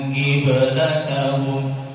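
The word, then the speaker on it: قِبْلَتَهُمْ: Qaf kalau kasroh itu tebalnya turun dia. Maka ketika kita bertemu dengan qaf yang kasroh itu nanti ketebalannya juga sama dikurangi. Seperti awal juz 2, kalau kita nanti awal juz 2 di yang paling bawah ada ayat berbunyi wa ma anta bitabi'in qiblatahum. Bitabi'in bertemu dengan qiblatahum, qafnya kasroh. Ketika qaf itu kasroh, ketebalannya turun dia.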